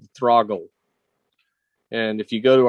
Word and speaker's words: Throggle: T8, just like throttle, except for use GG instead of TT. Oh, Throggle.